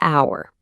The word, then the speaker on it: hour: Okay, take the word hour. It starts with the letter H, but the H is silent.